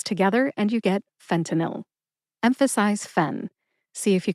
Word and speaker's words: fentanyl: they are fenil fenil Fen like Fenway Park the famous baseball stadium in Boston T like Toledo Ohio